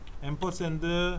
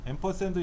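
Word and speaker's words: ampersand: 영어로 앰퍼샌드라고 읽고 앰퍼샌드. 이걸 다른 말로는 엔드라고 될 거야. 엔드. 자, 이렇게 읽기도 해요. 엔드라고 읽기도 하고 한데 원래는 앰퍼샌드라고 읽어요.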